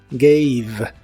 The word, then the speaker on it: gave: el pasado es G la a de esta palabra se pronuncia como ei y la e del final s sin pronunciarse gave gave esta forma la